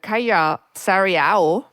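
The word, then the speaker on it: Kaija Saariaho: It's an opera by Kaya Sariao. I actually looked up how to pronounce her name, the late Finnish composer, and it was staged by Simon Stone.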